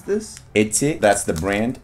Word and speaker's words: Eti: How do we pronounce this? Itte. That's the brand. Itte.